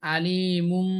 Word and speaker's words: আলিমুম: করে পড়তে হবে, অর্থাৎ আলি ইমুন, আলি ইমুন না হয়ে এটা আলিমুম হবে। আলিমুন না হয়ে সঠিক উচ্চারণ হবে আলিমুম।